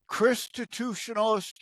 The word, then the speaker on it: Christitutionalist: Christitutionalist Politics. Christian constitutionalism. Chrisstitutionalist. It sounds like it's spelled with an A, but it's an I. Christ-I-tutionalist.